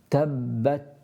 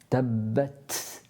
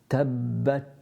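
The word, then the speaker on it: تبت: Tabbat, just a little burst of air at the back of your hand. You should be able to feel that. Sometimes people have too much. Tabbat, that's too much. So you need to lessen that, but have a burst of air and make it audible.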